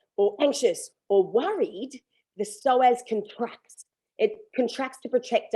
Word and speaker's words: psoas: in within our body and it's called the psoas it's spelt p-s-o-a-s and it attaches from the mid